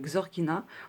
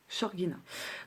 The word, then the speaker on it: Shorgina: Donc celui-ci, c'est l'oracle Shorgina, donc ça se dit Xorgina en français, mais sinon la prononciation c'est Shorgina.